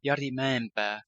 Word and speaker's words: Jari Mäenpää: I'm not too sure how to pronounce his name, but the guitarist from Winter Sun, I think it's Jari Mäenpää. The internet pronunciation says this. Jari Mäenpää.